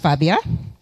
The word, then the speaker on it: Fabia: just uh reintroduce myself my name is Fabia pronounced Fabia um and I'm a